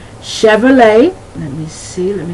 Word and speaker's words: Chevrolet: All right, that CH has the SH sound. An example would be Chevrolet.